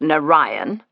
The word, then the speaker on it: Narayan: N A R A Y A N pronounced Nion.